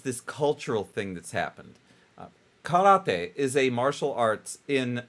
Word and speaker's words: karate: That's what karate is or karate if you say it correctly.